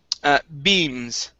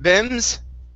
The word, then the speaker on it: beams: Last word is beams. Okay, long E sound. Beams instead of bems.